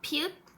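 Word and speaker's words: 비읍: Et puis, il y a piup. Piup. Ça se lit comme piup, mais ça se prononce comme P en français.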